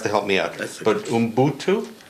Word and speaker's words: Ubuntu: What I'm getting at is this whole concept of, and I know I'm going to mispronounce it, so you're going to have to help me out. But Ubuntu? Ubuntu.